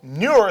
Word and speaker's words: Nur: And U being pronounced as the French U, now in Chaldee, number signifies birth. It signifies what? Signifies birth. So Nur signifies birth.